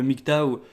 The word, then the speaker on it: MGTOW: déjà entendu parler du nyc tao alors le mic tao qui s'écrit dans le propose en français mg et théo w ce qui est assez